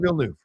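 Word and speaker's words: Villeneuve: me kind of frustrating Vil new yeah vill new all right Den Ville new got it that's how he said it oh well oh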